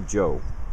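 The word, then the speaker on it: João: And if you don't know how to pronounce Joao, here's a trick. Just say Joe. It's almost the same.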